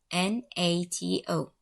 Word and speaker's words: NATO: we have four letters n-a-t-o each one is the initial letter of a word in the phrase north atlantic treaty organization this acronym is pronounced as a word not as letters not